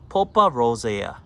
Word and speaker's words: Pulpa rosea: Plena, this is Pulpa rosea, that's how you pronounce it.